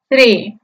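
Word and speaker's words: three: tres en inglés vemos el símbolo conocido como teta del alfabeto griego el cual se pronuncia similar a nuestra Z luego vemos la r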